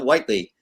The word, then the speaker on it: Whiteley: to pronounce their names, even though it's spelled like it sounds. So Whiteley.